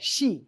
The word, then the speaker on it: Xi: By the way, media always gets the pronunciation of his name wrong. Oftentimes they say it like a Z, like G or J. It's it's just like sh like the female pronoun.